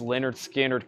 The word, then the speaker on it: Lynyrd Skynyrd: uh I also have Lynyrd Skynyrd pronounced Leonard Skynyrd collected Leonard Skinner's three